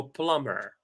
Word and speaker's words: plumber: without the B so we don't pronounce the b so Plummer great so the next